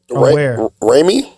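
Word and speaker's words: Raimi: the chat but uh Sam Ry is that how you pronounce his last name Ry Sam Ry yes thank you uh it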